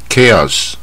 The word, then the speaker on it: chaos: 正确发音篇第 79 集 Chaos 就混乱、这个字它